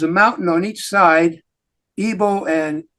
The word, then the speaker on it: Ebal: Shechem, and there's a mountain on each side, Ebal and Gerizim. That's how you pronounce those 2.